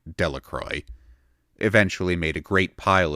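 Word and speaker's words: Delacroix: Jones and Dicky deacro the villagers pronounced this name delacroy eventually made a great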